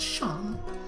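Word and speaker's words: Seam: better to do I mean seen Oh Shawn pronounced Shawn and this is my little shop over the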